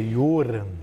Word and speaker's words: Johan: O Johan é estranho até, porque na verdade pronunciaria Joran. Né? Joran? Joran, porque só tem um R, enfim.